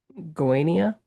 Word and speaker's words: Goiânia: Pedro is a film critic from Goiânia, Brazil. Did I pronounce that right?